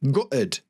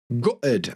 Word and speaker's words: gutted: word gutted GED GED or like in my accent we use a glottal stop so I say gutted gutted and I don't pronounce